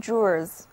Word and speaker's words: jewel: (音)那接下来是我们今天要学的第二个词根，它就是 G-E-W-E-L，意思是宝石 ,Jewel。Jewel 本身也是一个单词，宝石、宝石事物的意思。注意字母 J 在这里的读音是 J，而字母组合 E-W 在 J 的后面读作长的 U，第二个字母 E 读短的 A。跟我一起来念一遍吧 ,Jewel,Jewel。Jewel, 一块十七钻的手表就是 A watch with 17 jewels.